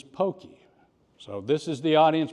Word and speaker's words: Pocky: But my name is Pocky. So this is the audience participation. When you think of Pocky, what comes to your mind? Hokey Pokey, number one answer. Pocky and Gumby, Pokemon.